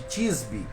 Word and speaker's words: Tisbé: A Bíblia só vai dizer que ele veio de uma cidade, de Tisbe, né? Ou Tisbé, como alguns falam. Creio que é Tisbé a pronúncia certa.